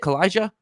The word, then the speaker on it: Calijah: Because Calijah Kancey, is that how you say it, Calijah?